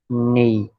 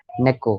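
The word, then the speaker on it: 猫: इट्स नॉट नेई, गलत। ने करेक्ट है, पर सेकंड कैरेक्टर क्या है। इट्स नॉट ई। नेको, करेक्ट।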